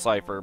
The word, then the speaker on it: Seifer: Okay, so and I have gotten some pushback on that because his name is supposed to be pronounced Cypher, but I'm not pronouncing him like an actual word.